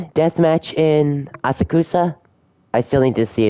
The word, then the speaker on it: Asakusa: Asakusa. So the U is silent. I noticed that a lot of Japanese words and names have the U silent like that.